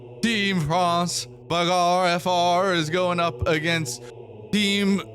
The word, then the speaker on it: Bagarre: We have the battle for Europe on our hands as team France, the BARF frar. Sorry, we need to fix pronunciation. Team France Bagarfr is going up against Team Germany, the Asteroid Destroyers.